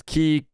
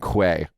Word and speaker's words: quay: Key. And there's 3 pronunciations at Webster. It's key, something, and quay. So I'm like, it's key.